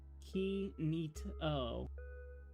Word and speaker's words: Kinito: Let's see, my last message, that's how you pronounce Kinto. Kinito. Like kitty.